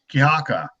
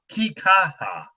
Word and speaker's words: Kikaha: Willie Whitehead role I think would be uh kiaka oh how you say his name the Pineapple Express that's the guy you can pull in Kika kikaha there we go that's um yes he is